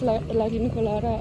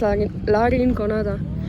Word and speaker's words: La Rinconada: I always like confuse myself whether it's La Rincolada or La Rinconada. I think it's La Rinconada. Rhymes with intifada, that's the most important thing.